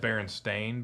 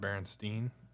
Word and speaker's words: Berenstain: Berenstain Bears, It was always Berenstain Bears. not Berenstein. It's Berenstain Bears.